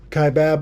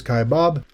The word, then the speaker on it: Kaibab: Some people pronounce it Kaibab, others Kaibab. I've even heard some people call it the Kebab Trail, though that is definitely wrong.